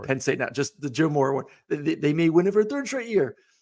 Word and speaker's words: Joe Moore: I'm gonna say it right, Joe Moorhead Award. Joe Moore Award.